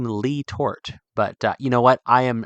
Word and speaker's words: Letort: A lot of the Pennsylvania old timers that are kind of from that area say Letort. But I think that James Letort, when he came and settled in that valley, coming from France, never pronounced his own name Lee Tort.